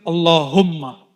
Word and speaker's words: Allahumma: Tadi yang bikin bergetar itu zikir Allahumma. Coba sama-sama baca. Allahum yang benar bacanya, sama-sama. Allahumma, lagi.